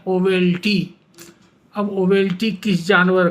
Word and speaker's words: owelty: वो वर्ड का स्पेलिंग है O double E एल टी Y pronunciation है ओवेल्टी अब ओवेल्टी किस जानवर